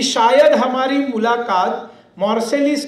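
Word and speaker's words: Marseille: का जो बंदरगाह है उसको मार्सेलिस हम प्रोनाउंसिएशन करते हैं, वो मार्से ऐसा है, वो ये भी नहीं बोलते, मार्से।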